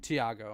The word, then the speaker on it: Thiago: and I think Thiago is that how you say it? Benedetti. Tiago.